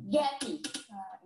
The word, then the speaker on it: Gap: I think what threw me off was the shadow vowel at the very end. Gappy. Mm-hmm. Yeah. Yeah, because then we have two syllables, right? Gappy, not only one.